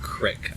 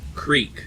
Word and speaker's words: creek: do not pronounce that word Crick I pronounce it Creek because that's how it's spelled all right Stefan same